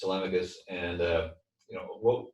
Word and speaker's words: Telemachus: members of our community which we call tmus the the pronunciation is tmus and uh you know